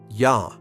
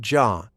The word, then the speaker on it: ja: Yah. This means yes. Yes. Ya. Ya. Ya. Pronounced like ya, not ja. The J in German sounds like Y in English.